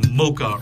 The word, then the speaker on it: Moka: Now, I think I'm pronouncing Moka right, M-O-K-A, not Moka, like M-O-C-H, like that sugary, delicious coffee drink.